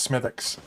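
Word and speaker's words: Smithwick's: smithics yeah smithix so spelled smithwicks yeah pronounced smithix yeah some of their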